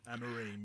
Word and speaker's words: Amorim: I can't pronounce his name. Amora or something, is it? Is that the new... Amorim, yeah.